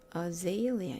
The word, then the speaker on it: azalea: 프로닝이 아니고 pronunciation. 들려보면 azalea네요. azalea 이것도 내일 공유하기 위해서 미리 보내놓고요.